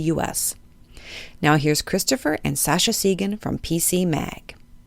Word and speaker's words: Sascha Segan: your name a million times, but did I pronounce it correctly? Uh, it's actually Sasha Sean.